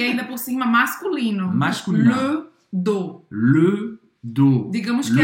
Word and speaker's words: dos: Je m'étire le dos. Je m'étire le dos. As costas. Le dos, em francês, tem um S, mas não se pronuncia, o S é mudo.